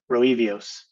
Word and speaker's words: Roevios: To whom, how do you say the name of the company? Roevios.